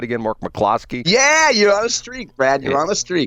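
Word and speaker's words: McCloskey: stuff did I say it right again Mark McClosky yeah you're out a streak Brad you're on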